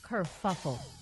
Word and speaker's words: kerfuffle: But you didn't pronounce the word right. And the word is what, Maria? Kerfuffle.